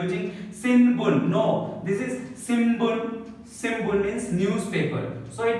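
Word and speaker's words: 新聞: It is called like from the nose, nasal sound, so ma sound. Simbun, it is not sinbun. Many students like they are using sinbun. No, this is simbun.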